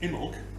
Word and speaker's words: Imbolc: Imbolc, not Imbolc, as I've been pronouncing it, and all the